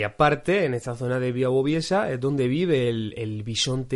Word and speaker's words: Białowieża: unos 200 kilómetros, y se llama Białowieża, con W, es como se escribe, pero se pronuncia algo como Białowieża, o algo así.